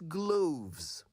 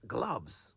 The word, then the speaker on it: gloves: Gloves, not gloves. Perhaps the pronunciation of words like cloves and droves might be the source of this confusion, but it's gloves, like doves, not gloves like loaves.